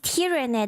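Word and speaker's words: Tyranid: So it's tyrannid. That's how you pronounce it.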